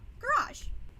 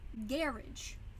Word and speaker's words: garage: word Dhiraj for example how do we pronounce it in America garage garage how did the Brits pronounce it garrage making it stressed unstressed you start to see